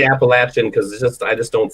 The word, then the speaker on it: Appalachian: And I can't say Appalachian because I just don't say that, and it doesn't feel right. It's the local pronunciation for sure.